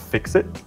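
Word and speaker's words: FICSIT: working for the company which is pronounced fix it funny completely we're dead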